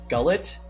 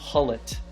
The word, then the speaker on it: Gullit: I remember like a few years ago, I would say like gullet. And then I remembered, I was like, no, this is wrong. And now I've been fully on the Ruud Gullit train. I say it properly. I had the little like scruff in my neck, the Gullit to say it.